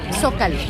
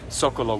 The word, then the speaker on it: Zócalo: Zócalo.